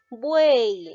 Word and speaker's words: buey: Buey, ahora date cuenta, te mencioné anteriormente, cuando la Y está al final de una sílaba, se cuenta como vocal I. ¿Ya? ¿Por qué? Porque se pronuncia como la vocal buey, ¿te das cuenta?